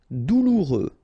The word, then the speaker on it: douloureux: Douloureux. Remember final X not pronoun.